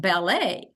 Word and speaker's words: ballet: see a word like ballet but wouldn't that be ballet but if you know that ballet is from the French language and they do not pronounce the final consonant then that helps students